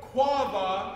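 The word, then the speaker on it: קָוָה: and the first word, wait, quava, as it's pronounced in the original language, has to do with the patient waiting.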